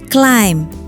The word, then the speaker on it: climb: Harusnya climb bu? Iya kan? Bacanya malah cuma climb. B-nya cuma numpang foto.